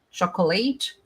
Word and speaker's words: chocolate: E se eu te disser que chocolate em inglês é chocolate, chocolate, chocolate. 2 sílabas. Se você está falando de chocolate, você está pondo uma sílaba a mais.